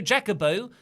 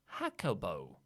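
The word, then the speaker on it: Jacobo: the super chats Bobo Jacob oh says is aew setting up mocks versus carne in a lawsuit on a pole match yes my name is pronounced Bobo Jaco bow it's Spanish I I said Jake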